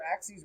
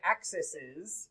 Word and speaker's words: axes: saying what are axes it's the proper way to say the plural of axis because we do not say axises that's just weird you say axes like axes except not the sharp weapons uh that we use